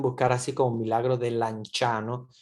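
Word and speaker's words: Lanciano: así como milagro de lanchano se pronuncia lanchano pero se escribe el anciano eh Porque es una palabra italiana Esta es la basílica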